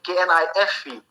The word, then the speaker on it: knife: Like another word, I can say knife. Knife, I cannot say knife. K is silent.